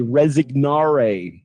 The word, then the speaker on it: resign: So this G kind of disappears. Resign sign.